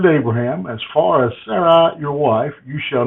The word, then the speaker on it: Sarai: call this Abraham's wife Sarah. But most agree that the Hebrew pronunciation of the previous name is Sarai.